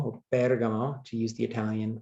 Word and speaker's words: Bergamo: you see on your screen, which is called Bergamo, or Bergamo, to use the Italian pronunciation.